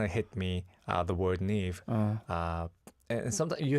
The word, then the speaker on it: NIve: So that kind of hit me, the word NIve. And sometimes you have to pronounce it as like a knife and Knife? Yeah, so, but we were like, knife sounds a little too close to naive.